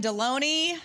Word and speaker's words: Delony: Ado here he is John deloney rhymes with baloney uh John we're so